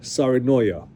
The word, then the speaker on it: Saarenoja: Her name is Alexa Saarinoja. The J is pronounced like a Y.